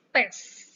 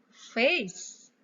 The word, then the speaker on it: face: Jadi banyak yang pronounce pes. Not p, but f. Ya, not p, but f. Ya, dan bukan fast, tapi face. Ya, face. Not fast, but face.